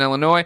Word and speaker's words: Illinois: an 18-year-old who lives in Illinois, and I have a weakness. You're saying the state's name wrong. It's Illinois. It's not Illinois.